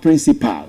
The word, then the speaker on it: principal: It's actually principal. The same way you pronounce P L E is the same way you pronounce P A L.